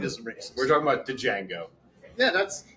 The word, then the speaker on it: Django: racist we're talking about Django yeah that's the g is silent yeah that's it's not